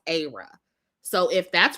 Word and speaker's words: Ayra: And Ayra, you guys can correct me if I'm saying her name wrong. The Africans told me it was Ayra.